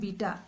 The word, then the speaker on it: beta: इसको बेटा मत कहना, बीटा कहते हैं इसको।